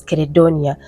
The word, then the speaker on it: Credonia: But when I made my research, I found out that they used to pronounce her name as Credonia.